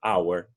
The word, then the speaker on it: our: parcela esse ano então our a pronúncia é o mesmo de hora ainda está our our só não tem h ok então our nosso